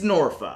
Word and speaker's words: Norfolk: city name norfolk it's norfa of course it is or norfolk or norfolk or really anything other than what you just said the way it's spelled yeah that don't worry